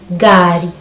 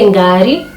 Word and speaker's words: ngari: Next, ng, we have a car, which we say gari, gari. You can either say ngari or gari.